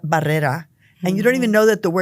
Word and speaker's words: Barrera: And every class that I ever was in, teachers had us pronounce our names differently. So you grow up thinking you're Barrera, not Barrera.